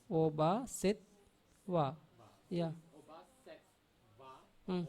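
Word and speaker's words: obhāsetvā: The tv is a double consonant, so the first t is pronounced with the vowel before set. Then Oba, set, wa. va. Yeah. Oba set va or Hmm.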